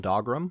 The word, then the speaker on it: Dougram: Probably we're talking about Fang of the Sun, Dogrim, which yes, is pronounced dog, not Doug.